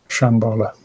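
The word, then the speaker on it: Shambhala: It is pronounced Shambala.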